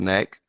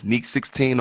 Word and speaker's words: Neek16: It's not pronounced Neck, but it's Neek16 on all platforms.